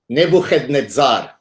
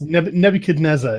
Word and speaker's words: Nebuchadnezzar: And even the early Christians, can I pronounce him the correct way for you so that you get the whole? Yes. Nebuchadnezzar.